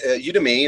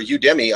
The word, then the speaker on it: Udemy: you is their tagline so i guess it's pronounced the same as academy which is you to me to me so